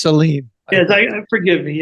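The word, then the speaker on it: Celine: stars, maybe, Seline Dion, how do you say her name? Seline. She allowed me to call her Salon, but yes, she prefers Seline.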